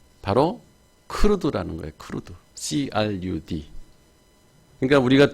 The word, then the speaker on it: CRUD: 그래서 그냥 부를 때 크루드 이렇게 발음을 하는 거예요.